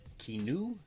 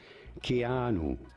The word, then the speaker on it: Keanu: Keanu? Keanu?